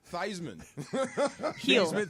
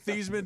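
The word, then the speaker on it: Theismann: Pitzer Heisman and Heisman I was corrected thyman theeman doesn't rhyme with Heisman I asked Joe that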